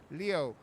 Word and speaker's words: Leo: It's written with the kanji for lion, to be sure, but it's pronounced Leo.